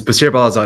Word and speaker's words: Baseer Balazadeh: I would like to go ahead and introduce B balaz I hope I pronounce that correctly sir hey Charles yes you did it's B balaz that's correct fantastic baser is here to talk